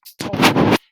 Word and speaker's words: Ptolemy: The P is not pronounced. Ptolemy.